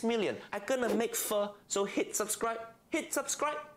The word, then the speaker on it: pho: Pronouncing it wrong. So easy. Not pho, it's pho.